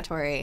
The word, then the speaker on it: Sartori: Montemori, I think, right? Yes. It's Sartori? Yes, Yeah. Sartori.